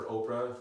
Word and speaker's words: Oprah: Born with the name Orpah, people called her Oprah. They mispronounced her words, so the name Oprah stuck, so she preferred to go by Oprah.